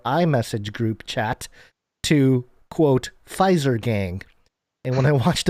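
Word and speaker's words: Pfizer: He said the silent P gave the word fizer a luxurious feel reminiscent of the silent H in Hermes.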